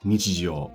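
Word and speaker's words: 日常: So first we have the word nichijou, and as you can see, it's pronounced as nichi in this case.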